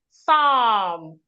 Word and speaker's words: Psalm: Psalm.